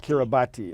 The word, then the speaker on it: Kiribati: what this is we call it kiribati but it's spelled k-i-r-i-b-a-t-i yeah care about kiribati it looks like pure body but it's pronounced